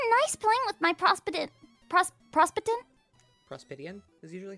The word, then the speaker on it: Prospitian: Prospitian is usually how we pronounce Prospitian.